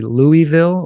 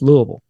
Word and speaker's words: Louisville: I can tell immediately if somebody's not from here because they'll say Louisville or Louisville. And we all say it like we've got a bunch of bourbon and marbles in our mouth. It's just Louisville.